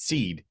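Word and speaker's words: CĒD: so I created this seed Clinic CED Clinic with a line a um macron over the E is pronounced seed um and people that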